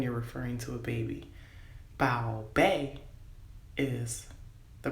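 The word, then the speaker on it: 宝贝: Bao bei is the pronunciation for my darling, my sweetheart, my treasured jewel, or treasured.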